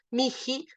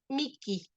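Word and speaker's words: mihi: Y entonces a la italiana eso se pronuncia miki.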